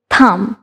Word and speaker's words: thumb: sound দিয়ে শুরু হচ্ছে and m এর পর b থাকাতে এটা কিন্তু silent হয়ে যাচ্ছে so the pronunciation will be thumb okay next যে আরেকটা